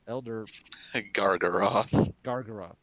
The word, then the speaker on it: Elder Gargaroth: Mike, how do you pronounce that? Elder Gargaroth.